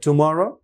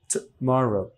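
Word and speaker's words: tomorrow: পয়েটে যাই ঠ তাহলে টুমরো তাহলে এখানেও একটা শর্ট মানে উইক সিলেবল আছে উচ্চারণ হবে টুমরো টুমরো টুমরো দেখেন ছোট্ট করে বলছি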